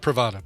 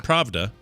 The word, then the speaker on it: Pravda: Pravda, not Pravda. Pravda. Yeah, not Pravada. Okay, Pravda.